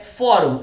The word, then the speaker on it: fórum: Próxima palavra é fórum, é a mesma regra de álbum. Fórum, pessoal, de novo vai ter acento, pois é uma paroxítona. A sílaba tônica está aqui, pessoal. É a penúltima, por ser a penúltima,